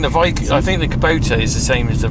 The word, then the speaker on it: Kubota: on whether to buy the Kabuto is it Kubota Kubota Kubota so you can't even get it right no there's no point